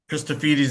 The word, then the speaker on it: Christofides: So um this is Chrisphardes from univers Christophites. Have I got the pronunciation right? Chrisphites is good.